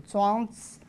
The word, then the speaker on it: Zhuangzi: For Americans, it's difficult to pronounce the second sound. You can use a kind of long utterance, zi, and cut a short, become zi, so Zhuangzi.